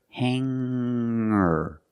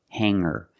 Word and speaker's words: hanger: change sing to singer when I change these words with e i don't pronounce the G sound it's just the nasal M link together with the r together hanger hanger there's no G sound I cannot say hanger